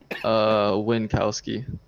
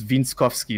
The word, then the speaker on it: Winckowski: So before we start, I know how to pronounce your last name, but I'm just wondering how you pronounce your last name. Winckowski.